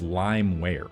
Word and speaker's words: LimeWire: In that same video, I mispronounced the word LimeWire, which is how I've always pronounced it, and that's the correct pronunciation, as limeware.